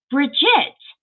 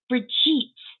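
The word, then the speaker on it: Brigitte: I will say some some channels have been calling her Bridgette and it's not it's briet like French briet okay so if you're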